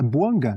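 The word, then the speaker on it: Bouanga: E tá certo a minha pronúncia? É Boanga que fala, né? Boanga. Boanga.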